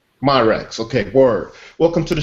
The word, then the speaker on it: Myracks: Hey Justin, am I pronouncing your last name right? Yes, Myracks. Myracks, okay, word.